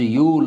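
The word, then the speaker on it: Yule: So George ಯೂಲ್ ಅಂತ ಅವನ್ನ ಕರೀತಾರೆ. ಇಲ್ಲಿ ಕೆಲವರು ಕನ್ನಡ ವಿದ್ಯಾರ್ಥಿಗಳು ಅದನ್ನು ತಪ್ಪಾಗಿ ಉಚ್ಚಾರ ಮಾಡಿ ಯೂಲೆ ಅಂತ ಕರೀತಾರೆ. ನಾನು ಅದನ್ನು ಹೇಳೋದನ್ನು ಕೇಳಿದ್ದೀನಿ, ಸೊ ಅದನ್ನು ಮಿಸ್ಪೆಲ್ ಮಾಡಿಬಿಡಿ. ಯೂಲ್ ಅಂತ ಉಚ್ಚಾರ ಮಾಡಿರಿ, ಯೂಲೇ ಅಲ್ಲ, ಅದು ಅವೆಲ್ಲ ಇಂಗ್ಲೀಷ್ ಪದಗಳು.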